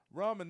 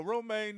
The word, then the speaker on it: ramen: can't make no romaine noodle, goddammit, you Rom- ain't worth a shit.